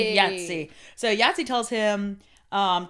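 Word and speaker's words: Thjazi: kidnapped by this guy named yatsi is how you say it y it said yatsi it's not spelled like that at all it's like T HJ a zi Yi yatsi so yatsi tells him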